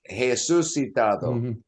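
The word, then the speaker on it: Jesús: the r in Portuguese is pronounced yeah is pronounced uh like a hey it's not an R it's a h sound so it's hesus so how do you see your name right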